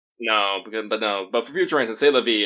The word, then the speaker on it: C'est la vie: I believe there's two more letters in C'est la vie, but you don't say them at all. No. Completely silent.